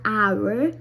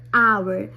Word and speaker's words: hour: I'll put a horse but here the H is silent so like hour so I put and